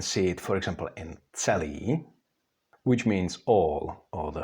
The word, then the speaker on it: celý: In Czech words, you can see it, for example, in celý, which means all or the whole, like celý den, that we all day, or in the word otec, which means father.